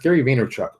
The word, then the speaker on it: Gary Vaynerchuk: It's pronounced Gary Vaynerchuk.